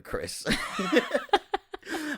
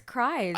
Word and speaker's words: Krys: but her name graces not spelled like a regular Chris I had a yo it's pronounced Chris right people people think it's cries yeah I was like